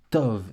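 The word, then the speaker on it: טוב: qui le bête mais le bête n'a pas de daguesse donc vu qu'il n'a pas de daguette ça se prononce dove Tov et Tov sûrement que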